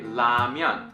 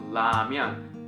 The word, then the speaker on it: 라면: For instance, when they say 라면, like 라면, they pronounce this thing as L, like L, L.